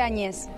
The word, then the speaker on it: Agnes: Bueno, primero, Agnes se escribe Añez, se pronuncia. Sí, se escribe Agnes, se dice Añez.